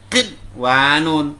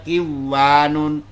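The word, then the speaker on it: قِنْوَانٌ: Dibaca berat kinwanun, bukan dibaca kiwanun.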